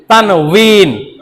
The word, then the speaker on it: তানউইন: তানউইন। কি নাম? বিনো না ভিনো না, উইন, তানউইন।